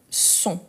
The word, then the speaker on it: sont: être et ils elles sont une faute qui je vois très coron ça arrive c'est de la personne FO mais son son le T à la fin c'est vrai on ne les prononce pas mais son son le